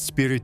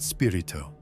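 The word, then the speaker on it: Spiritu: It's spirit santo, father, not spirito.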